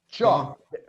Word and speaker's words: chop: Ronaldo, observe that the pronunciation in the second example is cho, cho, chop. There is a T in front of the CH, chop.